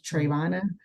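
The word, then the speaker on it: Travonna: have to explain hey remember like trayvon martin my name is trayvonna but let's just do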